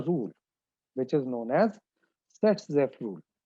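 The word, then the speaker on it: Saytzeff: which is known as Set-Zepf rule. The pronunciation is same, Set-Zepf rule, because in German this Z is pronounced as S and S is pronounced as Z.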